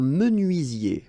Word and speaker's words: menuisier: Un menuisier. Remember this UI. UI. Menuisier.